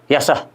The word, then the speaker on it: यशः: जो चिन्ह लगता है जिसका उच्चारण ह का स्पर्श करता हुआ होता है, प्रातः, मतलब ह निकलते निकलते रह जाता है, पूरा ह नहीं निकलता है, प्रातः, यशः, यशः फल, है ना, बालकः।